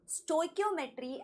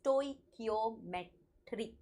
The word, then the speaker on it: stoichiometry: today's topic, that is stoichiometry and stoichiometric calculation. First of all, there are a lot of pronunciations that you will find everywhere, but the correct pronunciation is stoichiometry.